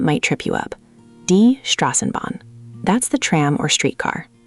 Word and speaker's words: Straßenbahn: Die Straßenbahn. Much better. That rolled off much more smoothly. The tricky part is that SS sound, which is like a sharp S.